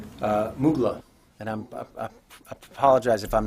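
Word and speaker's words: Muğla: Uh Mughla and I'm apologize if I'm not pronouncing that correctly if anyone knows their Turkish geography better than I do. Mugla.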